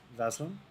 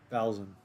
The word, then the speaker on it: Valen: potential unfortunately I'm using KX vaslin Valen sorry I'm saying your name wrong Valen oh you're tanking too